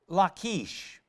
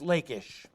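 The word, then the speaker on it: Lachish: other one was the city of lakeish or sometimes pronounced lakish the assyrians had come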